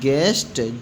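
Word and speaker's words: guest: ऐसे इधर है जी यू ई एस टी गेस्ट जी और ई यू साइलेंट हो गया।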